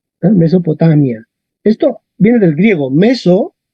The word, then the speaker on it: Mesopotamia: Ok, miramos la penúltima. La penúltima es mi. Vocal corta. Tac, acento en la A. Y en español, ¿cómo decimos esto? Igual. Mesopotamia. Mesopotamia.